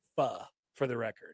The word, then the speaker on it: pho: It's pho, for the record. It's pronounced fun, Nick.